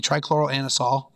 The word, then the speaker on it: trichloroanisole: You trichloroanisole.